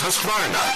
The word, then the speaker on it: Husqvarna: know you can't pronounce Husqvarna, the name that means craftsmanship all over the world. So I teach you now how to say Husqvarna. You say husk like corn and varn like fish without the ish, and nah,